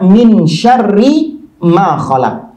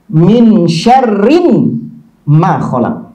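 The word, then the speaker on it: مِنْ شَرِّ مَا خَلَقَ: minim syar'i Maa kholaq kalau kita bacanya Min syarri Maa kholaq tapi kalau mereka di tahlil i Hai apa itu di tahrif dirubah harokatnya mereka bacanya winshare Rim mav collab Hai ada bisa jawab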